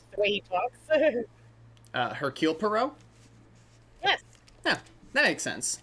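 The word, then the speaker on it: Hercule Poirot: Uh Hercule Perau. Yes. Yeah, that makes sense. No, the H is silent. That's French.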